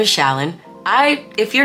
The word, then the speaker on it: Challan: It's Challan. It's just Challan. You act like the C is an S and you spell it C-H-A-L-L-A-N, but you pretend it's S-H-A-L-L-A-N. That's how you say it.